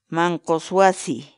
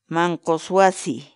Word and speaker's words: manqus wasi: series videos where we teach you how to pronounce certain words in Quechua so our word of the day for today's Mancos wasi Mancos wasi Mancos wasi in English the Quechua word mang kawase means